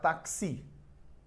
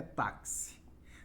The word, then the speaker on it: táxi: Então, por exemplo, ó, esta palavra aqui, se ela está sem o acento, eu vou ter que pronunciar taxi. Mas não é taxi, é táxi.